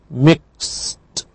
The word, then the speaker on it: mixed: Past tense with ed is pronounced mixed. Mixed.